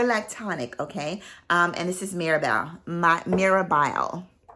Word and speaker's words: Mirabelle: I always pronounce it Marabelle, but it's actually Mirabelle by Vicanto Quintacanto.